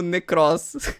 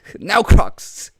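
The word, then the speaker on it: Nekroz: Desculpa, eu não gosto de falar da pronúncia das pessoas, mas eu fiquei um pouco agoniado de como ele tá pronunciando Necross. Neocrox.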